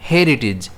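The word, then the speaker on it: heritage: इसे हम प्रोनाउंस कैसे करेंगे? हेरिटेज। जिसमें स्ट्रेस जो है वो एच पर रहेगा।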